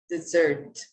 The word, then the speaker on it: dessert: everybody let's repeat dessert dessert dessert dessert so you can note you can see the stressed syllable is the second syllable dessert and